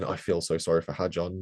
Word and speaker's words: Hadjar: I feel so sorry for Hadjar, not just because of that formation lap spin, because also Crofty seemed entirely unable to say his name all race long. It's Hadjar, like jar, not You like can tell